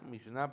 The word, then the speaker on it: Mishnah: Lo que conocemos, el Mishnah, porque lleva acento en la A, Mishnah, perdón, se formuló o se integró en el siglo III después de Cristo.